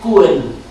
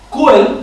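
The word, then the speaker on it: Čuhel: Y han creado un premio, que es el premio František Kuhel, Prize of Economics. Kuhel, que se escribe C-U-H-E-L y encima de la C un triángulo invertido, lo veréis citado en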